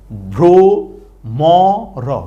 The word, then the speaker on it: ভ্রমর: শব্দটা ভ্রমর কেমনে হইলো ভ র ফল উকার ভ্র ম র ভ্রমর ভ্রমর হ্যাঁ আচ্ছা তাইলে আমরা